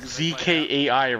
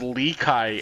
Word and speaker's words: Zkai: So I call him Zkai, but apparently it's pronounced Lekai, and I'm like, what the fuck? It's so weird. I don't know how the fuck you can have a Z in your name pronounced as like an L.